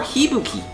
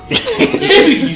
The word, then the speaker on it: Hibiki: We will catch you next time for Hibuki. Hibiki, sir. Hibiki.